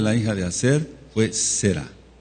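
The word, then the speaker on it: Serah: Ahora se pronuncia, dice, "Y el nombre de la hija de Acer fue Sera o Saraj en hebreo.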